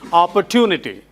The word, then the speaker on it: opportunity: There is no cha sound. It is tun. Yeah, there is tune in it. So you say opportunity. Opportunity not opportunity.